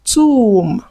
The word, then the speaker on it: tomb: So you need to learn how to pronounce these words naturally without the B.